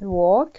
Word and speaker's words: walk: I walk، أنا أمشي، قلنا walk فيها حرف ال لا ينطق.